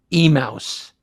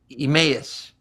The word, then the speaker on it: Emmaus: anita wise and i kept calling it e-mouse and then we found out it's emmaus the citizenry pennsylvania emmaus